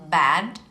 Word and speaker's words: bad: Вот давайте сравним слово bad и bad. В первом случае, когда мы произносим слово bad через звук оно переводится как плохой. Но во втором случае bed – это кровать.